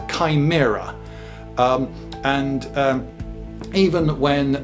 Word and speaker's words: chimera: from from ancient sources ch is almost always k uh if it's greek uh ch comes out as curse so this this monster this is this isn't a shimmer this is a chimera um and um even